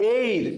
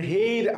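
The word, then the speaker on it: heir: এসপি, এম এ, এল এল B, hour, আবার এইর মানে হেইর, আসলে আমরা উচ্চারণটা করবো বলে এইচ ই আই এর, এটা বললাম খুবই গুরুত্বপূর্ণ। অনেকের উচ্চারণ হেইর করে, দ্যাটস ওয়াই ওরা বুঝে যায় হ দিয়ে কোনো কথা নাই।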